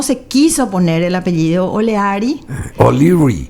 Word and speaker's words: O'Leary: Moreno era hijo natural de un irlandés de apellido O'Leary, que se pronuncia O'Leary.